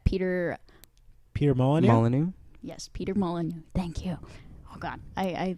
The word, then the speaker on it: Molyneux: Yes, Peter Molyneux.